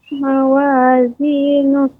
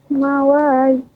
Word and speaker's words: موازينه: Fa amma man ثقلت موازينه. Ya, untuk huruf mad Ibu pengucapannya dengan ditekan.